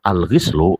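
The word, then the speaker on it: الغِسل: bad terakhir alislu bilqri kalau lafislu dengan cara membacanya dibaca kasrah maka dia Ismun nama bagi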